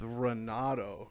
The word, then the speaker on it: Renato: Maddie's mic Talk podcast I'm here joined with Renato I think I've pronounced that correctly I hope I did yeah